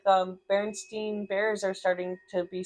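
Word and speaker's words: Berenstain: one because like it's for sure the Baronstein bear. Not Baron Stain. It's Stein.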